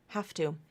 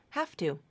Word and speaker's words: have to: to the voiceless consonant T it that you pronounce it like an F have to the voicing is gone completely I have to do it have to okay so that one I really feel no